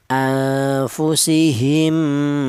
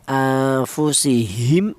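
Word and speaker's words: أنفسهم: atau meleb mati ini cara bacanya langsung menyatu ke huruf mim yang ke nomor du anfusihim seperti itu tidak boleh ini dibaca izhar tidak boleh seperti contoh anfusihim mi tidak boleh yang betul mim mati ini bersama dengan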